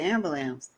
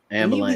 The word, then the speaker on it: ambulance: I always called it ambulance amul like it is a ambulance sounds so weird to say to me though I can't say it like that ambulance yeah we had